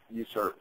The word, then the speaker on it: USRP: to use the stock user uh usrp is usually pronounced user um on the left